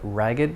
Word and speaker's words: ragged: A winding road, or an ed form, a ragged doll, and I'm pronouncing the ed in this case, not ragged, but ragged, because it's used as an adjective still.